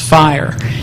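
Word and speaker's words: FHIR: Rim called Fast Healthcare interoperability resources and it's pronounced fire uh you can get information about it here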